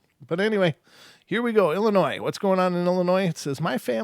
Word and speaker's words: Illinois: or is it Illinois's what's up with all the silent letters why even bother should ended that with i io I Noi done if you're not gonna say the s anyway get it out of there it's not paying the